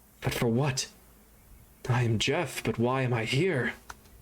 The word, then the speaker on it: Jeff: help jeff and yes that is how you pronounce his name it is not geoff that is jeff that one was easy